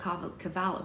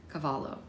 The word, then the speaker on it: Cavallo: A follow-up meeting was set up with Bob Cavallo. Why do I keep pronouncing his name wrong like I don't know his name? Cavallo, who was slowly coming around to the idea